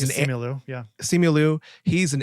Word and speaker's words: Simu Liu: Shimu Liu is Simu Liu, or however you pronounce it. Yeah, it's Simu Liu.